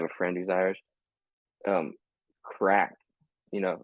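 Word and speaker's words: craic: like I think like the word is Irish c-r-a-i-c let's pronounce crack you know there's a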